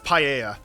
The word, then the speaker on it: paella: Because in Spanish, usually when there's two L's next to each other, it makes a Y sound. So yeah, lore confirms it's paella. It's just pronounced differently in like the UK and like Australia and like Kiwi land.